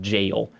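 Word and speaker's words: gaol: I pronounced that g AOL L is just pronounced jail which I also had that realization at some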